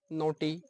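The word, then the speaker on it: naughty: फिर हम पढ़ेंगे साइलेंट वर्ड, यानी कि जैसे जी एच साइलेंट होता है, नोटी, NAUGSTY, तो जिसमें जीएच साइलेंट रहता है, ऐसे ऐसे हम आगे शब्द पढ़ेंगे।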